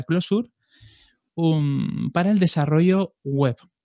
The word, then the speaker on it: Clojure: voy a decir bien siempre digo close your porque se escribe de esa manera y así se hace hay algún curioso que quiere buscarlo pues será más fácil pero se pronuncia closure uno para el desarrollo